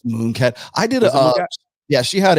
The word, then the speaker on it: Munecat: that sort of like munat is it munat or moonat how do you say moonat it's moonat I did yeah she